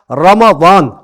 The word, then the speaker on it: رمضان: ہم اردو زبان میں رمضان پڑھ جاتے ہیں, عربی میں اس کا تلفظ کیا ہے؟ لہذا حرکات کے اوپر, را کے اوپر آپ دیکھیے کہ فتح ہے, میم کے اوپر بھی فتح ہے جس کو زبر کہا جاتا ہے.